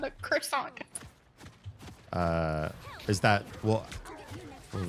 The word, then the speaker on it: croissant: Every time someone says says quissant though, it just makes me think of the cartoon Star in the Forces of Evil.